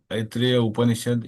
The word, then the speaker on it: Upanishad: Brahman is consciousness appears inaishad in ruga. This aorism say it properly upanishad in ruga.